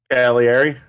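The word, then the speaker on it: Cagliari: not getting that one i say it again but with a silent g alieri close like calorie okay the calorie without the g yeah calgary you said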